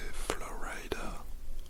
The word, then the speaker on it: Florida: La Floride, prononcée Florida en anglais, doit son nom à